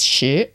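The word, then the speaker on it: 十: Then 10 is shi, rising tone. The actual Mandarin for shi is easier to see because it's like a cross. So you just go, okay, cool, 10, easy. But shi, shoe, because you've got 10 toes, hopefully. Or not, it doesn't really matter. But you put 10 toes in your shoes.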